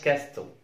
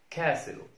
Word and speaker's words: castle: الحالة الثانية لصوت التي هي لما تيجي في اس تي اي ال، المقطع اس تي اي ال في نهاية الكلمة لا ننطق التي، اس تي اي ال في نهاية الكلمة لا ننطق التي. فبص كده على الكلمتين دول، ما اسمهاش ويستل ما اسمهاش كاستل، اسمها ويسل ويسل ويسل كاسل كاسل كاسل.